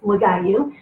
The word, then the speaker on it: Wagayu: But, you know, Wagayu, in case you've always wondered how to pronounce his name, is Wagayu.